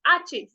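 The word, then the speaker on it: hache: अब देखो, ये जो एच है, इसमें आप एच से स्टार्ट नहीं करोगे, क्योंकि एच तो साइलेंट है, तो हम यहां से पढ़ेंगे आचे। आचे, एच हो जाएगा आचे।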